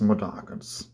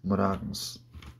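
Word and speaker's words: Mudokons: Das heißt eigentlich Modakens, aber na gut, Modokon, wie auch immer. So wird es im Deutschen gesprochen, aber eigentlich heißt es Modakens. Modakens.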